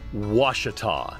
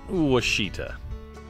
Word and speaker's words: Ouachita: you a friendly piece of advice it is pronounced was this is Lake was not wasita Brady Mountain Overlook also has a set of